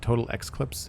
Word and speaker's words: Total Eclipse: It's pronounced Eclipse, but Total X-Clips, I think.